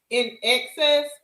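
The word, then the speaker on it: INXS: It's pronounced in in excess.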